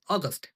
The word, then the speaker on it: august: এখানে অগস্ট, a small. এই আগস্ট মানে হচ্ছে মাস আর এই অগস্ট মানে গৌরবময়। কিছু কিছুর ক্ষেত্রে উচ্চারণটাও চেঞ্জ হয়ে যায়, যেমন আগস্ট আর অগস্ট, বাস কিন্তু বেশিরভাগ ক্ষেত্রে উচ্চারণ সেমই থাকে।